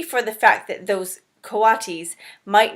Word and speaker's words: coatis: Brisbane said reading from the letter pronounced coatis coatis there you go the coatis looked weird miss